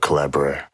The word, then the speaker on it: Collabradabra: And that goes back to the book Collabradabra. Can't say Collabradabra. Yeah, that's it rhymes with abracadabra.